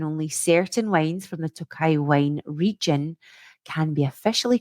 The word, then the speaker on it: Tokaji: Okay, and next up, Tokai. Is that how you would pronounce it? Tokai? Yeah, I think I'd say Tokaji.